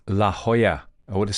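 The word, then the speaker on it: La Jolla: pronounce this let me let me look it up see it was worth it wasn't it La Hoya I would have said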